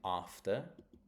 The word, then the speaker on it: after: Um the next one is after. After is on the a of the first syllable.